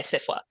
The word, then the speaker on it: SFWA: So I'm alumnus of the Odyssey Writing Workshop, and then I'm a member of SIFWA, is how they say it. So SIFWA?